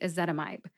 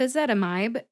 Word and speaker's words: ezetimibe: long and short vowels with a zetamide you have to use a long I sound in the last syllable my because the pronunciation guide tells me that when there's an i in the last syllable and the syllable ends with the letter E the vowel will have a long sound that means it's a